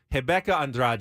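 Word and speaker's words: Rebeca Andrade: the winner uh was this girl hebecca Andra from Brazil I think that's how they they pronounce it in Portuguese and she kind of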